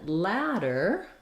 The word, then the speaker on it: ladder: with D's same pronunciation and then ladder the letter A has the black cat vowel ladder and in the dictionary you'll see this as a t they may or may not put the flap on it probably they won't and you'll see this as a d but Americans pronounce those two both with the flap sound so they'll be the